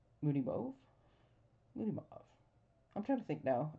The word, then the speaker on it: Moody Mauve: with Moody mauve right Moody move I'm trying to think now everybody there's so much discussion about how to say it I think I say moody move I was trying to